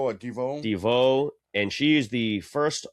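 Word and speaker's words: DeVaux: Devereaux or Deveau? Deveau.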